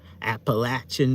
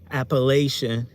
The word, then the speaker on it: Appalachian: how it is because I've heard some people say Appalachian, and I'm just like, the what mountains? Where is that? The Appalachian. Yeah, that's how some people say it, Appalachian. If you say it like that, I'm not making fun of you. I'm just saying that's not really how we say it.